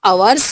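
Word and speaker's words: hours: और H लग गया तो आवर्स यानी घंटा, लेकिन उसको H साइलेंट होने की वजह से आवर्स ही पढ़ते हैं।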